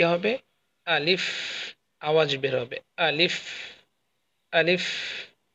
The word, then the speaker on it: ا: এটা উচ্চারণ কি হবে? আলিফ, আওয়াজ বের হবে আলিফ, আলিফ, আলিফ।